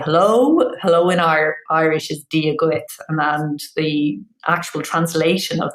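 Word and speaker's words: dia duit: But the few words that kind of make a difference when you travel, being able to say hello in Irish is dia guit, and the actual translation of that is God be with you.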